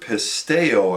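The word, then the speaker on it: πιστεύω: Now, in the New Testament, the word believe is a word pisteo, I think you pronounce it.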